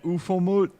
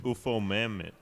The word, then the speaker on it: Ufomammut: And then Ufomut. What? What? It's UFOMAMMUT. UFO Mammoth.